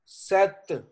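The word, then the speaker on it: sept: eight का क्या है सेवन है जी सेत पी साइलेंट है सेत एट है वीत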